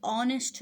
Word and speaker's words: honest: अच्छा, यहाँ एक बात याद रखें कि ये ऑनेस्ट में जो एच है ये साइलेंट है, तो ये आपको ओ साउंड दे रहा है, और जो ओ है वो वावल साउंड है, ए, ई, आई, ओ, यू।